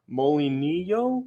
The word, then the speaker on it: molinillo: Because it's mol, because it's just one L. You pronounce it. And then the double L is yeah.